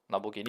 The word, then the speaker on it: Lamborghini: hi iso lamborghini yeah just that ferrari is shorter lamborghini is four syllables ferrari is three syllables hi rodrick saving yellow